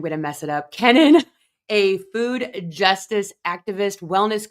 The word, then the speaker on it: Kenon: But people pronounce it Kenon and it really phonetically should be Kenan.